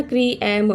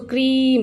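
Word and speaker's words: cream: आर ई ए एम क्री क्री क्रीम हम लोग ऐसा नहीं पढ़ते ना क्री एम नो ना सो क्रीम सो फर्स्ट को पहले साउंड कर रहे हो ये जो सेकंड वोवेल है इसे हम साइलेंट में रखते हैं तो उसे भी हम पेयर बोलते हैं।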